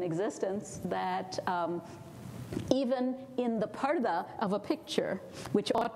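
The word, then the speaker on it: پردہ: It's like the word people use in English, P-U-R-D-A-H, which they pronounce purda sometimes, but it's parda, it means being in a curtain or being behind a curtain.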